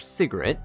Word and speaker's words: Sigrid: So instead I'm bringing Swift Flagbearer Sigrid, that's how you say her name, and I'm going to